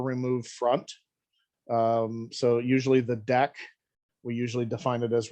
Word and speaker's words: deque: So usually the deck, we usually define it as remove front, just